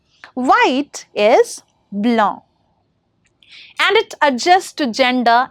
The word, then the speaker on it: blanc: For example, une neige blanche, that is white snow. Right? So the pronunciation also changes from blanc to blanche.